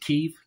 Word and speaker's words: Kyiv: We can't call it Kiev anymore, can we? Is it Kyiv? Kyiv we call it.